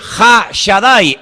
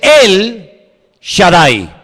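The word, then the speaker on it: El Shaddai: Ja solamente hay uno así que en hebreo no dice ha Shadai el todopoderoso sino dice él Shadai él en hebreo significa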